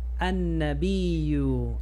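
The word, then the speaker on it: النبي: Esta es la na, kana, annabiyu, alef, lam, al. Pero aquí hay una regla especial donde la n se come la l. An, na, ba, fatha, disculpa, ba, kasra, bi, annabiyu. Sallallahu alayhi wa sallam.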